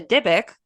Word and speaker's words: dybbuk: misspellings or pronounciations but for us we're going to be dybb u k and pronouncing it diic because we are neither Jewish and we are not educated I was I was